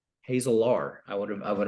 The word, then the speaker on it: Hazelaar: lovely bride Jessica and our last name is Hazel are hazel R I would have I